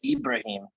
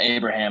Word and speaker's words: Ibrahim: It's Muhammad Ibrahim is the running back from Minnesota, not Abraham as in Lincoln.